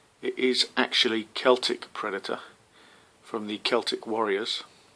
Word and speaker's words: Celtic: A lot of people pronounce him as Celtic. It is actually Celtic Predator from the Celtic Warriors. I'm not sure why people call it Celtic.